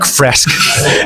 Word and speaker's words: Fresk: Fresk. It's a difficult one. It rhymes with desk, Okay. but it looks like it should be fresh.